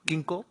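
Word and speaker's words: Ginkgo: tree uh especially the Kinko tree is am I correctly pronounce g g Ginko okay uh that you know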